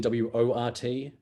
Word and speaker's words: wort: really weird, I mean, wort is in W-O-R-T. Yeah. I'm going to put a little bit of water. Pronounced wort, but that'll just confuse people even more.